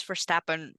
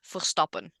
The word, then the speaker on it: Verstappen: Nobody pronounces Verstappen right because it's Verstappen. it's so hard to get But like that sound in the back of your throat to come out right.